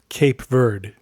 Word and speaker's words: Cape Verde: The Fox Point folks pronounce it Cape Verde, just for the record.